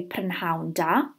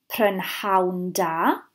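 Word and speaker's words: prynhawn da: we want to say good afternoon we say pan houndour if we want to say good evening we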